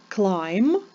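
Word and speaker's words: climb: вимовляється літера D Must Clim в слові Must не вимовляємо літеру T в слові Clim літеру B в слові isн літеру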